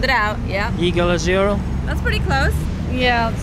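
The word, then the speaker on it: Yigal Azrouël: so here's the deal this is how you pronounce this name right here it's yigal azrael took me a long time to figure it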